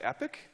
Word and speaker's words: epoch: we're gonna declare an epoch every two or three years and it's gonna eat up Epoque is gonna I've heard this number different ways I've learned that some people pronounce it epic okay okay there's some